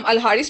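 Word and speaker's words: الحارث: इसे हम अल-हारिस पढ़ेंगे और जो DIRAR है इसे अभी ज़रार पढ़ेंगे.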